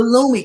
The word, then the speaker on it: Lummi: Washington, D.C., with this tribe called the Lumi tribe. It's spelled Lummi.